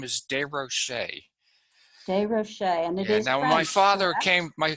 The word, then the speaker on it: Des Rocher: 13 years old and changed to the pronunciation to durocher to be more American but as I uh